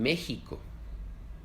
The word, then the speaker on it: México: La X suena como X, como en la palabra experto, pero en algunos nombres muy viejos suena como J, como en México.